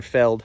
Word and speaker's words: veld: it's called man cattle veld or Feld I think the V is pronounced with a f um by Johan zitzman